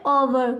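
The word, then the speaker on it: hour: तो कहने का मतलब है, जहाँ देखिए यहाँ पर हमारा एच कैसा है, साइलेंट रहता है, इसको हम क्या पढ़ते हैं, ओवर। क्या पढ़ते हैं, ओवर। हॉवर इसको नहीं पढ़ते, ओवर पढ़ते हैं।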